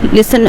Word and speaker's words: listen: देखिए टी जो होता है वो साइलेंट होता है. कभी भी आप लिस्टन नहीं बोलेंगे. लिसन हमेशा क्या बोलेंगे? लिसन.